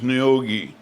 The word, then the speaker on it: Neoga: Any town on the cloverleaf that ended in A is pronounced IE to the railroaders. So Neoga is Neogi.